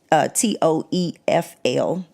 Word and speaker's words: TOEFL: right they do the the International English te t OE FL I always say it right wrong TOEFL right